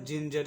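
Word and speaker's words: ginger: और फिर जी के बाद ई आया है तो यहाँ पे जी के बाद ई आने के वजह से फिर से जी का उच्चारण ज करेंगे, जी का उच्चारण ज करेंगे।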